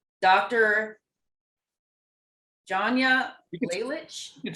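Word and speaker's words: Lalich: Janya Laylich. You can spell it.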